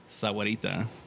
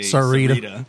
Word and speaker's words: Sahuarita: have sahuarita, Yeah. and some people say Sarita. Sarita. I was like, every time I hear that, I want to correct people and be like, you're missing a whole syllable.